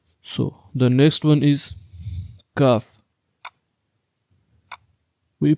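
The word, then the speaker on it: ك: So the next one is kaf. We pronounced qaf from the soft plate and kaf from the hard plate.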